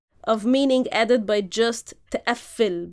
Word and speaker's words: تقفل: So this is this is the very layer of meaning added by just تقفل, by just stressing the f. تقفل is a verb, تقفل is another verb. Like تقفل is lock.